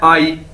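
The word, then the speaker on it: 阿姨: से मिलकर बना है, लेकिन इसको प्रोनाउंस कैसे करना है, आई। ठीक है, AYI, आई, जिस तरह इंग्लिश का वर्ड है आई।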